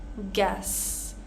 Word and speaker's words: guest: completely silent here colleague guest pronouncing the E not the you guess guard guide guilt